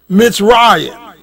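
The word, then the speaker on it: מצרים: kingdom in northeast africa and pronounced mitzrayim in hebrew this refers to upper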